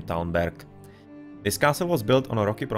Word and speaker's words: Talmberg: In Czech you have basically just the difference of the G and K, that the G changes into K in Czech, but the pronunciation is pretty much the same, Talmberg.